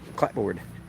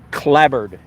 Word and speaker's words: clapboard: way the okay here's clapboard let me show you a clapboard house oh did you see that house that's clapboard I think it's more accurately pronounced clabber but it's spelled clap board and I think it's